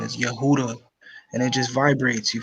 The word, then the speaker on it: Yehuda: Yehuda you heard it's Yehuda that's the that's the actual pronouncing pronunciation of the name yeah but it's just the J because you know you replace the Y with the J but well yeah there's